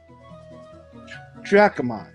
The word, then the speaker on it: Dracomon: Dracomon. That's how you pronounce this. Okay, Dracomon. I'll keep that in mind.